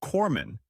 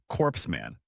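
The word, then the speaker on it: corpsman: And even former President Barack Obama, who's known for being an amazing speaker, once mispronounced Corman as corpse man.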